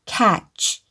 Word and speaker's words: catch: 경우 도 있으며 , TCH 역시 "ch" 소리 를 냅니다 . T 는 묵음 이라 고 할 수 있습니다 . 이 와 관련 된 단어 를 찾아 보면 , 그 단어는 " 잡다 " 라는 뜻 입니다 . 여기 서 TCH 는 "ch" 소리 를 냅니다 . 처음 부터 읽어 보면 C 는 "k", A 는 "a" 이므로 "catch" 라고 읽습니다 .